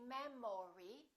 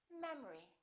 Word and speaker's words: memory: look at this one the second syllable is reduced the first syllable is stressed we don't say memory we say memory repeat after me memory